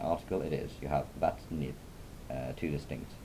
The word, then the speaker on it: vatnið: The difference comes when you are pronouncing words like vatnið, where you have the definite article.